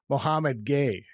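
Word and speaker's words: Mohamed Gueye: team for what it's worth the proper pronunciation is Mohamad Gay Mo love Moay very athletic but pretty skilled shot blocker yeah he's I They've got some nice pieces.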